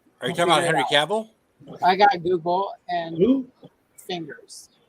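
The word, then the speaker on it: Cavill: away let's see are you talking about Henry caval I got Google and fingers Henry the caval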